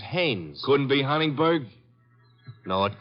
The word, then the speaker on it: Haynes: heinz used to fish no no not heinz haynes couldn't be hunningberg no